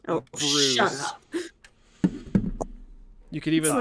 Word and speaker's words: Bruss: Last name BRUSS, pronounced Oh, Bruce.